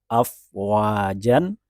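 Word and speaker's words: أفواجا: Contohnya, misalnya kata afwajan, kita tahu dan biasanya tidak kesulitan dan membacanya dengan benar afwaja. Jan di akhir dibaca ja ketika wakof. Atau contoh lain, hakiman.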